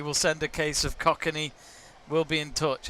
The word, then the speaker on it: Kokanee: Roberts has said absolutely we'll send a case of Kokanee. We'll be in touch. It's pronounced Kokanee. Kokanee.